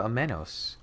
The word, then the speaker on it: Amenos: isle now we gotta go to amenos aminos it's aminos that's how you say it oh those are